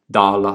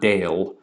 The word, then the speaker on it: dala: I was talking about, English was still pronounced with what are usually called pure vowels or even continental European vowels. Dala, not dale. Grete, not great. Nightingala, not nightingale.